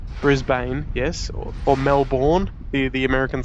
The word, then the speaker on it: Melbourne: so there you go how do you pronounce melbourne m-e-l-b-u-n melbourne that's the best way i can say it oh like 6866 yes